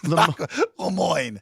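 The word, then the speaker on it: Le Moyne: what are they Leon Le Moine Le Mo rhymes with de Mo yes Le Moine Dolphins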